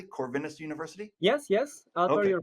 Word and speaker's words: Corvinus: corvinus University of Budapest and zomor did I pronounce that correctly corvinus University yes yes Sor your pronunciation was correct